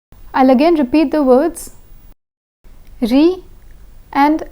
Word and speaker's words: riz: Riz and gaz. The Z in riz is silent, but the Z in gaz is pronounced.